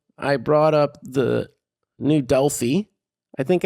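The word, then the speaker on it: Delphi: new dely I think I said delhigh and my last um thing is because there is a a town in in Iowa called delhigh so my bad dely I do believe it is um pronounced but uh the two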